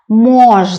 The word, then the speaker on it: можно: possible to do something we can do that mores not the first syllable stressed the second word is para para